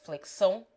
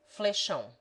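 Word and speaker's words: flexão: some of these words flick zone properly pronounced flick so in bahia is pronounced fleishon two like s when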